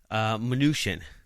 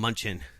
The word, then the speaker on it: Mnuchin: Then you have Steve Mnuchin, which is, I think, the consensus on how you say his name. I want to call him Munchin. And a lot of people do.